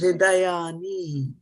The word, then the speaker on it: hṛdayāni: hṛdayāni.